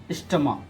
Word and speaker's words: stomach: For example, I am telling you, that is stomach. S-T-O-M-A-C-H. Okay, stomach. That is stomach. Okay, what do we pronounce?